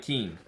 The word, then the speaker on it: Kian: Kian 2H, yes. Kian, yes. Which I've learned is pronounced more like Keen.